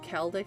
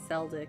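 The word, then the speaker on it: Celdic: It's pronounced Kelic. Surprisingly, I always wanted to say say Seldic because of the C.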